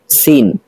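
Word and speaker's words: س: দেখাচ্ছি সাটা হলো সা আর সিনের উচ্চারণ কিভাবে করে একটু মনোযোগ সহকারে শুনুন সিন সিন সিন আওয়াজটা একটু জোরে হচ্ছে চিকন হচ্ছে আর সদ এটা মোটা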